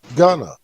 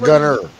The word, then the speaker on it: Gunna: You said Gunner. What, didn't I say Gunna? About that. Oh, okay. I know you from Ohio, and that's what y'all do. I said Gunna, man.